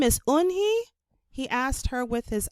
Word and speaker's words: Unhei: turning around it was joey your name is unhi he asked her with his eyes wide open unhei looked quickly at mr kim then turned to joey she nodded slowly yes it's pronounced unhei and it means grace mr kim added joey